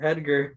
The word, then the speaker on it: Hedger: His name was Hedger No way. with an H. No. But like way. spelled like Edgar? Edgar, just with an H in front of it. Hedger.